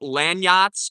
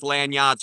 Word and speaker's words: Landyachtz: And I would look into Landyachtz longboards. It's spelled kind of weird.